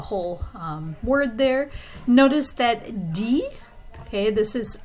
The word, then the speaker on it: dit: Notice that dit, okay, this is says. The T is silent at the end.